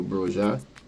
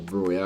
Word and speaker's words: Broja: Also big up to Armando Broja, or Broya, however you want to pronounce it.